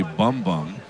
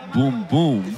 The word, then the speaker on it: Bum Bum: So Lopez's nickname it's in English I would say Bum Bum, but uh in Spanish it would be pronounced Boom Boom.